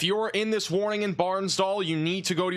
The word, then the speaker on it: Bartlesville: Barnes Dole or doll Barnes doll is it Barnes doll is that how you say it doll okay I got you okay so Barnes doll sorry in Oklahoma this